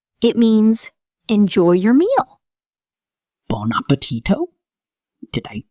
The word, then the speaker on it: buon appetito: In Italian, people often say, buon appetito. It means, enjoy your meal. Bon appetito?